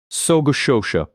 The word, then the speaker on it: sogo shosha: So Shosha, pronounced roughly So Shosha, translates literally as comprehensive trading company.